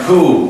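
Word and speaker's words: coup: week Prime Minister and coo that spells cou pain when it's pronounced cool as if there was no p there and as if it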